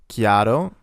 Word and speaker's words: chiaro: such as in cat, chiaro, ch, which is the same sound, it makes a k sound, like in clear, c'è, such as in